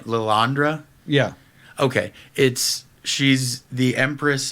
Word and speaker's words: Lilandra: now, how would you pronounce the name? Lilandra?